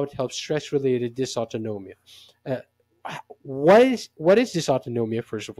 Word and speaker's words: dysautonomia: helps in treating stress-related, let me try to pronounce this properly. Dysautonomia. Okay, you didn't tell me that. Dysautonomia.